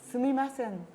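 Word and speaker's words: すみません: Sumimasen.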